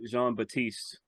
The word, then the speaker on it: Jean-Baptiste: Kari Coleman and Jeremiah Jean-Baptiste I'll go ahead and give him the French pronunciation because it probably is they split one I